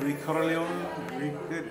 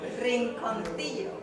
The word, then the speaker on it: Rinconcillo: Ricorleone? Almost there. Ricorleone? What are you, Italian now? Rinconcillo.